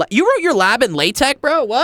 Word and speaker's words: LaTeX: what is latek cool latch is a coding language it's spelled like this latex so I'll show you